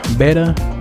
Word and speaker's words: Betta: Betta? I'm not really sure how to pronounce it. I'm pretty sure it's Betta, like you better give me that ice cream cone.